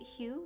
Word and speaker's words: Hu: The third brand, I assume you pronounce it Hue, like human.